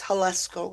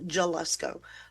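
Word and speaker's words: Jalisco: It's Hesco, not Jallesco.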